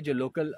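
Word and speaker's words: Zela: लेकिन कल जब हम ये ज़ेला पास, एक्चुअली इसका नाम सेला पास नहीं है, लोग प्रोनाउंस करते हैं सेला पास, बट यहाँ के जो लोकल लोगों ने हमें बताया कि आ जाओ कि ज़ेला पास है।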